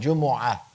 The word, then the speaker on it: Jumu'ah: And there's a dhamma, Jumu'ah, Jumu'ah. The dhamma is the default, but all 3 of them are acceptable.